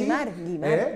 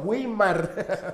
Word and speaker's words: Weimar: Se llegó incluso a que se pronunciara bien, porque Wimar claro, tiene diéresis, Guimar. Que todo el mundo decía Guimar, ¿verdad? Guimar. No, Wimar.